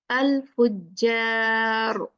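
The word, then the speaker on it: الفجار: Al-Fujjar. Ja, ja, not jaw.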